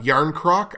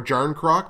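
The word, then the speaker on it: Järnkrok: these playoffs jar a yarn crock I think is how you pronounce his last name or John Kruk but i think it's yarn croc or yarn croak or whatever jay-ar nkr okay yarn crock and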